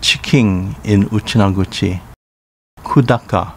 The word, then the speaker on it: Kudaka: Kudaka, pronounced Kudaka in Uchinaguchi.